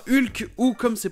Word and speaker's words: Hulk: film du mc hugh au clae passons à hulk ou comme s'est prononcée en anglais or qu avec le h